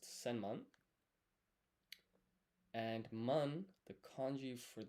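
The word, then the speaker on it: 千万: So, 10 million is pronounced senman.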